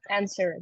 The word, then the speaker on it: answer: Answer, да, W не произносим. Отлично, answer.